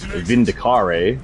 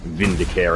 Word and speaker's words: Vindicare: right up there with Vindicare, because it is not Vindicare assassins. Assassins do not care about you. It is a care.